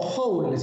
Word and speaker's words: joule: O joules se lee. Bueno, se escribe joule, pero como es un apellido en inglés, eso es joules.